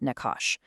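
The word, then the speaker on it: נחש: First up, we have the Nakash, pronounced Nakash.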